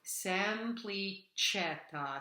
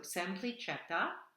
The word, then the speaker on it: semplicetta: So semplicetta, so that CE has a CH sound. So semplicetta, try it.